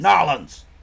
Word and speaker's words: New Orleans: Nolans! That's how the locals pronounce it.